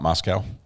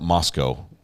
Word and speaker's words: Moscow: Moscow is pronounced Moscow not Moscow um my wife would probably tell me the same thing having spent a good portion of her life up in Idaho um I'll pronounce it Moscow from now on I'll try I really will